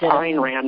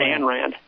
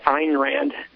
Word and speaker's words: Ayn Rand: It's Ayn Rand, not Anne Rand. I know that's common. People, call her Anne Rand, but it's actually Ayn Rand.